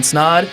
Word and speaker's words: Snod: But until then, my name is Snod. It rhymes with odd, and I'm out.